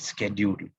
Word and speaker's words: schedule: So, dalam bahasa Inggeris, ada orang silap sebut sebagai schedule. Schedule is the wrong pronunciation. How do you actually say it? Schedule. Schedule, macam kajol.